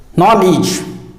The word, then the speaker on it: knowledge: o WL e GE but it is wrongly pronounced as knowledge by most of the people but it's real pronunciation is knowledge not knowledge but knowledge knowledge the next word is